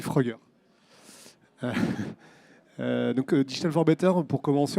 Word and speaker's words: Fruggr: Alors, c'est pas facile à lire, mais ça se prononce assez facilement, on dit Frugger.